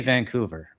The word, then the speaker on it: Vancouver: from Vancouver is that when you say Vancouver, um there's a little bit of a G after the N. Um and I guess that's how the locals say it, but if you're not from Vancouver, you just say Vancouver, right? Which is a little bit different.